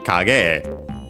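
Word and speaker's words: 影絵: The accent is on the ge, and so yeah, a typical spot for compounds on the final syllable of the first part of the compound. Sorry, yeah. So yeah, kage.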